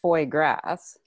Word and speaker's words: foie gras: do a cell based foie gras uh did i pronounce that right sounds right to me grass down here where i'm from it's foy grass yeah so that's an